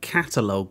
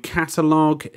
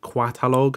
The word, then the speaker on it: Qatalog: So as you can see, it's called Qatalog. Now, I actually was pronouncing it Qatalog, I don't know why, but basically, the first